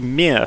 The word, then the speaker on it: Mir: i have to show you today is the mere space station mir is how it's spelt and it's a soviet russian space station